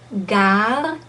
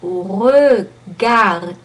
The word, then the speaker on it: regarder: What you want to do is to become aware of the fact that regarder, that E has no double consonant after, has no accent on.